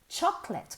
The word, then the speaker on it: chocolate: A cake is made with chocolate. Cuidado con la pronunciación. Chocolate. Chocolate. Nada de chocolate. Chocolate, no. Chocolate.